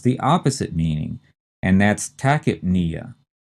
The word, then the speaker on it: tachypnea: The next term has the opposite meaning, and that's tachypnea. Again, we pronounce the first two syllables tachy and the P as tachyp, which seems really weird. Tachyp, we stress the knee, and then Tachypnea is what based on its word parts?